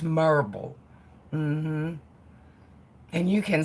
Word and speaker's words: Maryville: my mommy oh okay you've gotta say right marble hmm it's not Maryville it's spelled Maryville but it's not you guys it's marble mm-hmm and you can